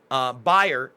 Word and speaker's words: Bayer: Now, Bayer is actually how you pronounce it. I'm always trying to correct myself when I'm wrong.